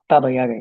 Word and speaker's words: Baba Yaga: Just so you know it's pronounced. Baba Yaga, yeah.